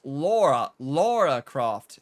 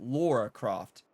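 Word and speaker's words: Lara Croft: It's Laura Croft. If you're from America, a lot of people pronounce it Laura Croft. It's Laura.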